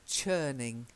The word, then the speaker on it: churning: with a Chuck sound rather than a Shh so it's churning changing that change yeah